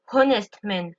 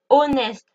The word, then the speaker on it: honest: Et là, en l'occurrence le H de Hest ne se prononce pas. Je n'y je ne dis pas honest, je dis honest. D'accord ? Donc je ne prononce pas le H.